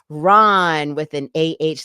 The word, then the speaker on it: Rahn: And it's Ron with an AH, like because if there's no H, it would be Rand, which people have pronounced my last name Rand before.